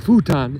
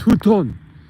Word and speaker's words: futon: can't pronounce these words without hearing the correct pronunciation it's not futan it's futon okay okay okay futon and it's a a